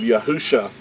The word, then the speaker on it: Yahusha: yad hey and that would give you the pronunciation of yahusha not yeshua and so i just want to